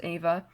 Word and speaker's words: Eva: I love Ava green it spelled like Eva but it's pronounced Ava I saw that she